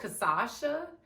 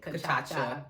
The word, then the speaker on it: cachaça: It's really called cachaça, but I call it cachaça. If you look at how it's spelled, you kind of get the cachaça vibe.